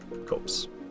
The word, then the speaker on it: copse: It's like corpse without the R. Copse.